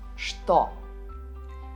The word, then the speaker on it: что: talk what sounds as stop pay attention you spell it with a chip and you read it as stop Couture store who's that